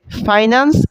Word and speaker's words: ফিন্যান্স: আমাদের বইতে লিখা আছে ফিন্যান্স। বাট এইটার মেইন উচ্চারণ হচ্ছে ফাইনান্স এন্ড ব্যাংকিং।